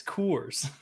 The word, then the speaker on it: Coors: that's what it sounds like that's how it's pronounced it's Coors cores there's two o's yeah cores anyway um